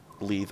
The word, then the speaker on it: Leith: Oh, so now we learned that Mordecai is actually under Lathe in terms of the hierarchy here. Leith. I gotta start pronouncing her name correctly.